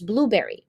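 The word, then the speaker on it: Blubrry: and live podcasting capabilities um and then there's Blueberry Blueberry is spelled b l u b r r y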